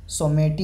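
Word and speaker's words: Someity: Name was revealed as सोमेटी, pronouns A सो मे T, which comes from सोमेशिनो, A popular cherry blues variety and the additional Eeco the English phrase so माइटी।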